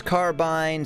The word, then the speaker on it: carbine: do today uh Steve it's carbine said like spine oh pronouncing